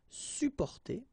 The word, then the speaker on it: supporter: You can also add this SUP in front of porter, sup, supporter. Supporter, you don't really pronounce the two or the double P here.